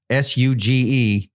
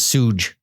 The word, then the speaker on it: Suge: It just drives me nuts because it's like Suge Knight. SUGE is Suge. Yeah. It's not Suge.